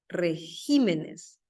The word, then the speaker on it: regímenes: sabían que régimen pluraliza regímenes régimen régimen pluraliza regímenes se considera que se tiene que desplazar el acento una sílaba son casos especiales Espécimen por ejemplo